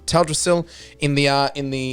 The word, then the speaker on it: Teldrassil: uh uh up in up in taldrasil i believe it's pronounced or said um teldrassil in the uh in